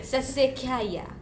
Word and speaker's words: Sassicaia: Would you know how to pronounce this? Sassicaia.